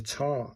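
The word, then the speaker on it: た: This one's pronounced like the TA in target, so it's a tar, isn't it?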